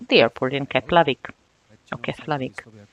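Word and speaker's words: Keflavík: I would like to point out the F and L. If you have a combination of F and L, it's pronounced as P, as plosive. So those of the people who do not know it would say we just arrived in Keflavik, but we who are in the know, we know it's Keflavik.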